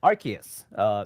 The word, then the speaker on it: Arceus: we just corrected the pronunciation. I'm off again. Arceus.